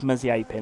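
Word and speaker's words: Mazepin: It's Mazapin. And it really, it really annoys me as someone that studied Russian. It annoys me when you mispronounce the names.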